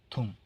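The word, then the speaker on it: ثوم: দিজাজ মুরগি তুম রসুন থুম রসুন বাম বলতে পারেন বা থুম বলতে পারেন কারণটা সা থেকে উচ্চারণ হয় থুম রসুন তারপর হল যে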